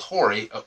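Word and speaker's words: HORI: and I'm going to probably butcher how it's pronounced but it's called Hy h o r i and they make a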